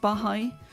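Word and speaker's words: Baháʼí: beans or or bahai I think it's pronounced bahai others were Christians others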